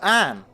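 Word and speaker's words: Ayn: Oh, is it Anne? A-Y-N. Like pronounced Anne.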